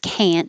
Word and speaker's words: can't: it you can't so the negative can't you won't hear the t you can't strut the